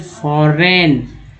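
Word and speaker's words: foreign: उसके बाद and brings in much needed, educate बोलते हैं, नीडेड फॉरेन, GN को जेन जो जी में जो है एंड जी साइलेंट है तो फॉरेन।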